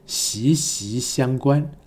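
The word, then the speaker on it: 息息相关: 还有在台湾这个词的发音是息息相关，息念第 2 声。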